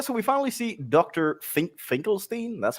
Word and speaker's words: Finkelstein: Finkelstein. That's how you pronounce it. Finkelstein.